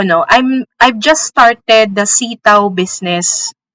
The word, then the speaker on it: Seataoo: But, ganun po ang pagkakabigkas sa kanya, sitaw, yung parang sitaw na gulay.